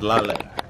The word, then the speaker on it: lilac: No, y'all, this is lilac. That's the proper way to say it, lilac. Not lilac.